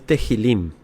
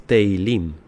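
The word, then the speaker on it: Tehilim: No es tejilim, es teilim. Teilim.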